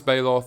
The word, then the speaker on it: Baloth: green decks and sideboards ravenous baloth or Balo depending on how you pronounce that also sees play